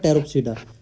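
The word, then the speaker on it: Pteropsida: अब आपको terrorist, Ted याद रखना है इसका, टेर मतलब टेरोप्सिडा, क्योंकि पी तो साइलेंट है, ठीक है। इसको हम कैसे बोलते हैं, टेरोप्सिडा, हो गया।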